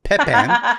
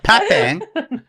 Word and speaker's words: Pepin: Which I was mispronouncing, and I thought it was Pepin. It's the Pepin. You got to say it like a fancy Frenchman.